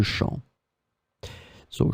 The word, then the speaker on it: champs: So as you can see here, it's the plural form, les champs, with the S in the end, but it's still the same pronunciation because we don't pronounce the final S. Les champs, so it can be